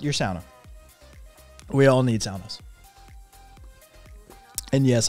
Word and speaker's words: sauna: sauna we all need saunas and yes i'm actually saying sauna rather than sauna which is the standard north american pronunciation um but yeah uh